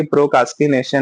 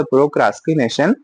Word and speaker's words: procrastination: से क्या होता है, हमको लगता है कि प्रोकास्टिनेशन में आर नहीं है बीच में, आर है इज अ प्रोक्रास्टिनेशन, पर हम बोलते हैं प्रोकास्टिनेशन।